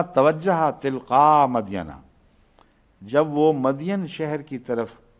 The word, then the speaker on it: مدین: تلقاء مدینہ، جب وہ مدین شہر کی طرف، قرآن کریم اس کو مدین ہی لکھتا ہے، اس لیے میں بھی مدین ہی پڑھتا ہوں، مگر بائبل میں اس کا تلفظ مدین یا مدیان آتا ہے۔ جب وہ مدین